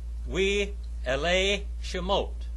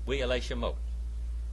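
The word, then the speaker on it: ואלה שמות: We Elei Shemot. We Elei Shemot. All right? And in Hebrew, it is We Elei Shemot.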